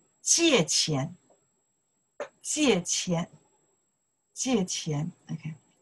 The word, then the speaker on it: 借钱: Say, 借钱, 借钱. 借钱, okay, J-I-E, 借, 借钱, okay, four tones, 借钱.